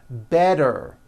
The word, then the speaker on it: better: Better becomes better.